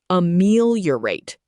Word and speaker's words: ameliorate: Pronounced a meel yo rate.